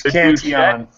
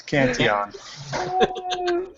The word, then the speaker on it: Cantillon: He did just correct your pronunciation of Cantillon. Aaron. It's Cantillon. It's Cantillon.